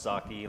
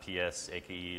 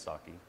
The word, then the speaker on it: psake: by James Kovacs again it is pronounced sake like the like the Japanese rice wine not PS a ke or P sake or something like that its sake it just had many